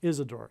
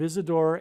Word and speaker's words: Isidor: it is said that Isadore sorry it's probably pronounced Isidore it is said that